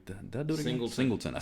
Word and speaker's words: Singleton: Singletary. Did I do it again? Singleton.